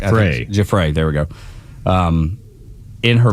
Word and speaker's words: Giuffre: But testimony and Virginia, and I hope I don't mispronounce her last name, Giuffre, did I say it right? Giuffre. Giuffre, there we go.